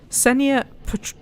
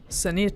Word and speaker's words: Ksenia: I'm assuming the K is silent. Ksenia Petrovna Volkova, and I asked her how much she knows so much about locomotives.